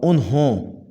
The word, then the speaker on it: انہوں: یہ غلط تلفظ ہے، اس کا صحیح تلفظ ہوگا انہوں، ہائے دو چشمی آئے گی انہوں۔ ابھی بھی، یہ